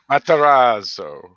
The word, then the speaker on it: Matarazzo: Matarazzo.